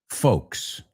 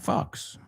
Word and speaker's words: folks: So dilo conmigo, folks. Cuidado, not fox.